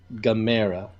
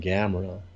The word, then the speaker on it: Gamera: Also, did you notice they're calling him Gamera? Yeah. Like Chimera. I wonder if that's just the... And I'm just so used to calling him Gamera, but I'm trying to say Gamera now.